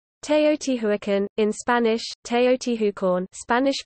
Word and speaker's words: Teotihuacán: Teotihuacan, in Spanish, Teotihuacan, Spanish pronunciation, Teotihuacan, listen, modern Nahuatl pronunciation, is an ancient Mesoamerican